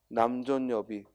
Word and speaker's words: 남존여비: 왜냐하면 뒤에 여 모음이 왔는데 앞에 존하고 니은이 남아있을 수는 없고 니은 첨가가 일어나서 남존여비 앞에 거죠.